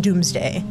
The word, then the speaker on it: Domesday: the Doomsday Book oh it's spelled domesday d-o-m-e-s-d-a-y but it's pronounced Doomsday uh well it doesn't